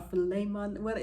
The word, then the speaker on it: Philemon: learn to forgive, yes, Philemon or Philemon, there's a Bible story, a book in there that we always mispronounce the name, but if you can look it up, it's Philemon, and there's a great